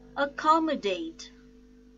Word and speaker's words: accommodate: The stress is on second syllable, bill, ability. Accommodate, accommodate.